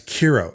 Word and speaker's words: Cairo: Now, I will say this because I've heard the pronunciation of Cairo as Kiro, and that's fine and dandy for all of you.